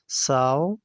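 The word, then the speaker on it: sew: ساو ګنډل، ساو ګنډل. ځینې خلک دې ته سیو وایي خو سیو د دې صحیح پروننسیشن تلفظ نه دی.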